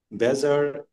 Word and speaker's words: besser: Und ich freue mich, dass mein Spanisch viel besser geworden ist. Das ist super. এটা কি, এটার উচ্চারণ ছয়ের মতো করতে হবে, হ্যাঁ, সবাই খেয়াল করেন।